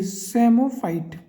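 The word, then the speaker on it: psammophyte: उन्हें क्या बोलते हैं ये सेमो फाइट पी साइलेंट इस के अंदर और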